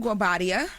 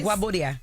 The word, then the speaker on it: Guobadia: Yes, you're right. You said it right. Okay, because I was like, just say it, because I always get his last name wrong. You asked Jess? She said, yes. She does it well. Say Guabodia. Okay, there exactly.